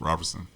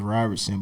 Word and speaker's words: Roberson: rob roberson robertson hamilton what's your last name it's roberson what robert robertson can you spell that it's r-o-b-e-r-s-o-n robertson okay yeah um i thought it was ryerson but no t right